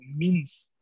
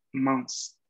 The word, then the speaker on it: mince: hay quien en algunas regiones de Francia la van a pronunciar con mins. Means, ¿no? Y pues podría confundir un poco, ¿no? Si la encuentran en algún video que la pronuncian así. Pero la pronunciación estándar debería ser mans.